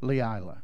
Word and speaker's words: Leila: And then on the left-hand side of the cancer list there, you see, how do you say the first name? Leila, just like it looks like, okay.